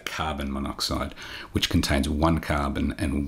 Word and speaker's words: monoxide: and not carbon monooxide what we do is Drop The Vow of the prefix if the element also begins with a vow it's really of pronunciation and so because oxide begins with a vow rather than saying monooxide we say monoxide listing a couple more